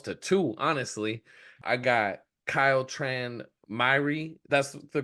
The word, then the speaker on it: Kyle Tran Myhre: I got Kyle Tran Myhre. That's the correct pronunciation, right?